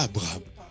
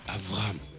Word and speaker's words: Avraham: Mais les Juifs, ils ne disent pas Abraham, ils disent Avraham.